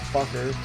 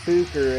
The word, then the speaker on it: Fucking: in a village called Fucker. Sorry, they pronounce it Fuker and it means something else. And, like, to them, it's just, you know, the town Fuker. Like Booker, but with an F.